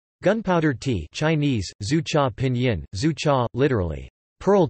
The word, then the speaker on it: 珠茶: Gunpowder tea, Chinese, zhu cha, pinyin, zhu cha, literally, pearl tea, pronounced yu, is a form of Chinese tea